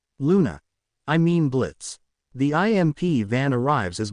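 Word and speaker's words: Blitzø: That sounds like Blitzo. Blitz. The O is silent.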